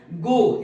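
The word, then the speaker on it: go: वैसे गो, गो एक सही उच्चारण नहीं है, इसको गौ कहते हैं, गौ, आई गौ, है ना।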